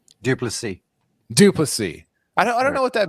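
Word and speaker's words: du Plessis: Duplessis.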